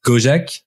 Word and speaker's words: Gojek: the senior VP of growth and data at gojek is it the the right way to pronounce it yes that's right that's correct an